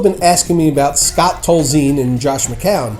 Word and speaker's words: Tolzien: Scott Tolzien, ladies and gentlemen, although I always thought it was Tolzien, but I have been known to put my accent on the wrong syllable from time to time.